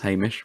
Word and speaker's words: Hamish: I think it was Richmond writing it, but Hamish, spelt Hay, Hey, Mish. So to get away from saying Hamish, they've actually now spelt it phonetically. So it now says Hamish, which superb.